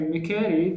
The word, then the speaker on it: machete: How would you pronounce this word? MACHETE. Okay, if you say Mikeri, that is correct.